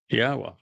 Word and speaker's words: Yahweh: It's a significant accomplishment since I painstakingly explained how one can prove that it is in fact pronounced Yahweh.